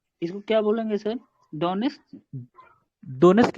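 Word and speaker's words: Donetsk: डोनेट्स्क ही पढ़ लो। डोनेट्स्क वो लिखा है, डोनेटस्क वो अलग चीज है, डोनेट्स्क ही पढ़ते हैं, वो टी साइलेंट समझ लो। टी साइलेंट है।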